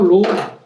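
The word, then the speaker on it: ρ: 여기서 로우, 극자기호 로우라고 읽는 거고, 로우.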